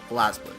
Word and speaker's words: BlazBlue: BlazBlue, it's pronounced as.